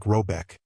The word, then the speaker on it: Rabec: The manor house or herard in question is to be called rabb pronounced something like robec though that is not its name.